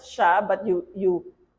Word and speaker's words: siya: in the ya shya you pronounce it as shya but you you spell it as s i y a but we pronounce this as sounds like that's supposed to be an ear Okay shya all right so niya